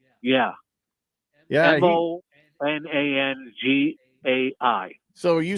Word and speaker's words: Monangai: Monagai? Yeah. Yeah. Monangai.